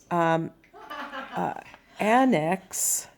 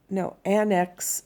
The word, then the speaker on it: annex: size of the nation now annex depending on which syllable you accent is either a noun or a verb so an ex the verb form is that no annex is the noun form an annex is like